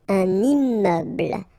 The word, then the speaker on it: immeuble: Un immeuble. So you can see I'm making this little liaison between the two. Un immeuble.